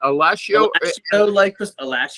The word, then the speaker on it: Alascio: Alascio like pistachio.